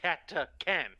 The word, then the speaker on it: Catachan: It is Catachin. And it is pronounced Catacan.